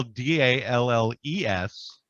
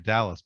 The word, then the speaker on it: Dalles: called the dells the dalles yes the dalles it's i've never seen a city that has dust something and but also spell d-a-l-l-e-s yeah and they say dalles as opposed to dallas but there's also a